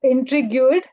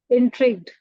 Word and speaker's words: intrigued: wanted to remind you you said intrigu uh which is actually to be pronounced as intrigued uh that's all from